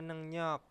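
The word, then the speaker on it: 능력: membereskan bisa terus ada nengnyok nah ini tulisannya Neng rok bacanya nengnyok itu adalah kemampuan terus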